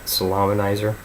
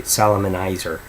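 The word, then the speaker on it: Salaminizer: first three songs and I think I pronounced it right Salameh neiser because I've seen a guy somewhere on YouTube say Salomon Heiser you don't necessarily pronounce it like it looks Sal a man nicer anyway alright so then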